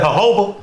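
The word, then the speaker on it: jojoba: THAT'S THAT HOBA. WHAT? The hoba oil. That is J O J O B A. It's Hoba oil.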